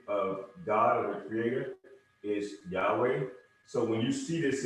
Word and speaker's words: Yahweh: that's the tetragrammaton and it's pronounced when we pronounce the name of is yahweh so when you see this is just a